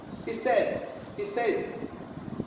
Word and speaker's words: says: He says, not he say, he says. That is wrong.